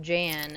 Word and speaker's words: Jan: Now we would pronounce it Jan, and it would be a lady's name. It's more like an ah instead of an a, instead of the a for the a.